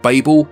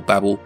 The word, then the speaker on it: Babel: week we have the library of Babel or Babel depending on your pronunciation this game was inspired